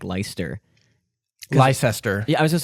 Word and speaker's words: Leicester: It's spelled Lester or Lester, but yeah, it's pronounced Lester.